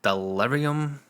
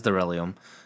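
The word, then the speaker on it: Darillium: and then we have delirium do you know I said that right there and I felt like I said it wrong it is derium we have derium um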